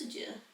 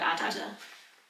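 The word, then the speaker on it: Adur: It's not pronounced Adieu. River Adder. Sorry, River Adder.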